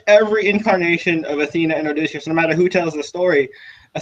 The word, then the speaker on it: Odysseus: And our man, how do I properly say his name? Odysseus. Odysseus, yeah, Odysseus.